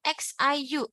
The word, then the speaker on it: xiu: Now, IU, how do you pronounce U just now? We see U, right? U, right? Okay. But when U is combined with I, it becomes U, U. So again, XIU, XI, how do you pronounce it? It's C. So you just carry forward. Xiu, xiu, xiu.